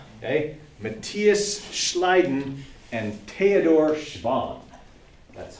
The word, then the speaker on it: Schwann: Matthias Schleiden and Theodor Schwann. That's how you pronounce it.